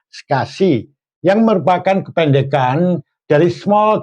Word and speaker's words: SCSI: Ada pula yang bus interface-nya adalah SCSI, tulisannya SCSI ya. Ini dibacanya SCSI yang merupakan kependekan dari Small Computer System Interface.